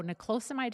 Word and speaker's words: niclosamide: but it's very important that we do so nicosamide is spelled n i c l o s n i c l o s a m i d e a m i d e all right and